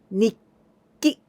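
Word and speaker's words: にっき: It means nikki. I don't pronounce tsu anymore. Nitsuki like this. Nitsuki, not like this. When tsu is small, then I pronounce nikki.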